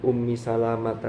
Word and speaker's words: Ummu Salamah: An ummi salamata dari Ummi Salama. Ummi Salama itu tulisannya memang lamnya tidak ada. Al tidak ada alifnya, tapi bacanya mesti panjang.